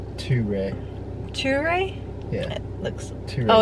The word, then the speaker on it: Ture: this morning at, I guess it's called like True Cafe. I don't know if that's how it's actually pronounced because it's got a little. It's Ture. Ture?